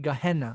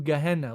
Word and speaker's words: Gehenna: almost always actually using the word geah gehenna I believe is pronounced.